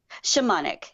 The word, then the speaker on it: shamanic: very syllabus words excellent is it pronounced shamanic or shaman ik shamanic yeah it's there's a long